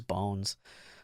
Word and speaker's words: Bones: We got Bones, not to be confused with Bonds, because that is not how I will be pronouncing it. It is Bones.